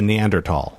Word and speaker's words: Neanderthal: would say neanderthal there's no h there's no it's a neanderthal neanderthal and i don't like saying it like that yeah and i i almost want to fight people i know you that's the right way to say it but i like saying